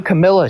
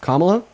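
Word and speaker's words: Kamala: You know, Camila tried to rig the election also. So, her name is pronounced Kamla.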